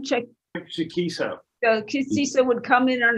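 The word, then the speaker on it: Chaquico: Chikisa.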